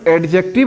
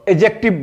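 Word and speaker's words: adjective: कि एडजेक्टिव जो है उसको एडजेक्टिव नहीं बोलते हुए उसमें डी बच्चों साइलेंट होता है इसीलिए उसको एगजेक्टिव बोलते हैं ना अगला चलते हैं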